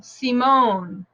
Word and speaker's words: Simone: the ones that are French based like my name it'll be on the last syllable Simone okay uh Nicole um